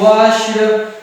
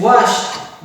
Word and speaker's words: washed: No, we do not pronounce with a d sound like washed. It is washed because of this sh sound. It is unwise, and if it is unwise, so we will pronounce with a t sound wash.